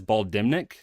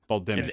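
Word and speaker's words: Bal'demnic: I pronounce it as Bal dimnik is it Bal dimnik I don't know you choose uh what do no what is it will the the N you do not pronounce in terms of the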